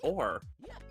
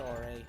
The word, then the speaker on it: Ouray: I always pronounced it Or. No, it's Ouray.